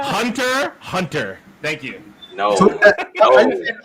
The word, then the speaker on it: Hunter x Hunter: No, it's Hunter Hunter. Thank you. No. X is silent. The X is silent.